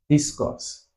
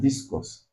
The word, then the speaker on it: discourse: Discourse. So where is the stress on discourse? You guessed this right. Discourse. The stress is on the second syllable.